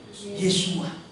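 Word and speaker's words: ישוע: Yod Sin Waw Ain. Kalau dibaca jadi Yesua.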